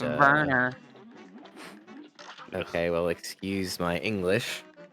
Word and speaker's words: Werner: Stunning now moving on to Warner, which again, it should be quite the easy boss for him as Yuka is heading into Sally. It's And pronounced Werner.